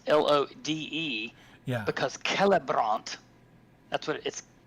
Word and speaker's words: Celebrant: But whenever you add that next R to it, it changes the stressed syllable. So Caleb becomes Celebrant.